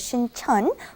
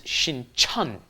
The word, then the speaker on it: Sincheon: One is Sincheon, one is Sinchon. Yes. The one by Yonsei University is Sinchon, and the one by Jamsil down south, that is Sincheon.